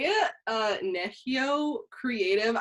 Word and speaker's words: Nehiyaw: you say it uh neshio creative i know it's spelled like nechi yaw but you say it nichio nahio creative perfect and